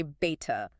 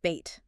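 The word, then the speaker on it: بيت: Almost like the English word bait, but maybe a little softer on the tea. Exactly. Right. You keep the vowel clear and the consonant crisp, but not aspirated. Aspirated meaning meaning you don't want a heavy puff of air on the tea. Like you wouldn't say beta. Just bait.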